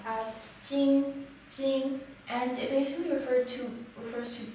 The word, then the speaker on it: 金: character is pronounced as Jing Jing, and it basically refers to gold.